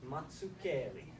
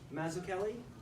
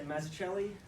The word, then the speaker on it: Mazzucchelli: So the proper Italian pronunciation is Mazzucchelli. Now, a lot of people say Mazzucchelli. That's acceptable. A lot of people say Mazzucchelli. That is not acceptable.